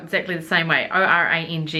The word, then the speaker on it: Orange: of the E and it was meant to be pronounced orang or orang or something like that apparently may have been